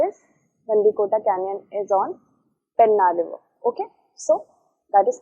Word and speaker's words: Pennar: The correct answer for that is Gandikota Canyon is on Pennar River. Okay, so that is correct. Pennar and Penna is the same one. Okay, remember that pronunciations do differ sometimes.